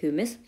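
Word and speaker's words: humus: हाँ भाई, मैं तो इसको, कुछ लोग इसको हमस बोलते हैं, कुछ इसको ह्यूमस बोलते हैं। सो I like to pronounce it एज ह्यूमस, सो I will go with that.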